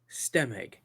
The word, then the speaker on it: Stemig: see in it how do you say your last name again steg stem EG there you go stemig check him out on